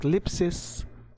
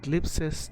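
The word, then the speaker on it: θλῖψις: Greek it's this say it's pronounced Lipsey's not Lipsius the Great Tribulation or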